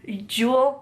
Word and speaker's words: Yule: you know Ule being I think it's still pronounced Ule but like with a J Jewel or something from like Scandinavia you know like the